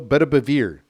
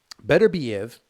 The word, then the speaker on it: Beterbiev: Beterbiev.